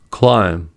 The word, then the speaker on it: climb: First, B is not pronounced after M at the end of a word. These are examples: limb, plum, numb, crumb, dumb, comb, bomb, thumb, climb, tomb.